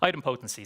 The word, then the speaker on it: idempotency: So item potency. So that's that's how we'll typically pronounce it.